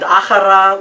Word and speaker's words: Achara: And Achara, let's spell that in Spanish, A-J-R-A, because we know in Spanish, J is a Ch.